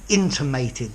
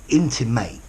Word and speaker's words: intimate: what the same directly intimated intimated ends with the word mate how you doing mate intimated okay so what about